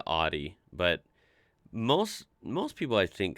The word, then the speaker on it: Audi: Most Americans that I know Audi. pronounce it like I just said it, Audi. In German, we say Audi. Yeah. Audi.